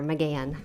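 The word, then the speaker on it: McGahan: I always say the H is silent, pretend it's not there. McGann.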